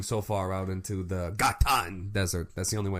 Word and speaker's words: Ghatan: are you doing so far out into the gatan desert that's the only way I know how